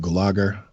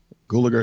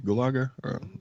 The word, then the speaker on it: Gulager: clue what is it Gallagher Gulager is how you pronounce a good name Gulager mommy hulagur and and